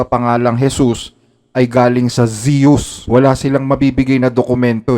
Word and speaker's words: Zeus: so ang tamang basa sa pangalang Zeus ay Zeus Zeus samantalang ang basa naman sa pangalang yesus ay